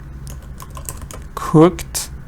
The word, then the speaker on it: cooked: a little bigger cooked that's not good cooked so this is one syllable can cooked lunch Karen